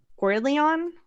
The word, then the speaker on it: Gwyllion: So, this is uh Gordon. Um, it is the plural noun for the singular guill, uh, which means twilight or glaming.